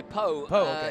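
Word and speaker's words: Pau: so close to Canada well you got to say po yeah Po and I wonder because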